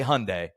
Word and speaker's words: Hyundai: name the guy goes just say Sunday I goes Sunday he goes now say Hyundai and I go all